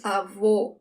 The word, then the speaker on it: avô: Grandfather is avô. It's closed. Avô. It's almost like you're saying, oh, avô.